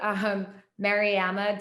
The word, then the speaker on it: Mariama: It's actually Mariama. So it's Amma versus Ama. So it's a short A, Mariama.